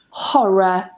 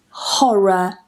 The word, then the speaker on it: horror: I pronounce those two Rs in the middle because they are between vowels, but I don't pronounce that final one because it's at the end.